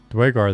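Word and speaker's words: Duergar: Is it pronounced Dorgar? I got to get back into my audiobooks. I got to finish up the current Dark Elf audiobook. Maybe they talk about and I'll get the pronunciation again. I think it's a Dwegar. Okay. Let me look it up real quick and see if just I can phonetic it again. Or is it Dwagar? Give me a pronunciation, please, Wikipedia. Dwagar, they say in BG3.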